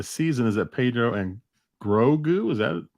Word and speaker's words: Grogu: My complaint about the season is that Pedro and Grogu, is that how you pronounce it? Grogu, yeah, aren't in it enough.